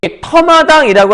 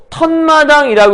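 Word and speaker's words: 텃마당: 그럴 때 발음을 했더니 터마당이라고 하지 않고 턴마당이라고 해서 니은이 나타났어.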